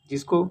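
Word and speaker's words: je: कुछ French words के last में ई आकर गटरल मीन्स कंठीय साउंड देता है, जैसे कि एग्जाम्पल जा मीन्स आई इसका प्रोनाउंसिएशन जा जा होता है।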